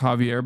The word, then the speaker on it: Xavier: Xavier is pronounced Javier, by the way.